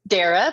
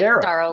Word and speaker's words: Dara: pronounce that right dara it's it's dara but daryl works too we want to do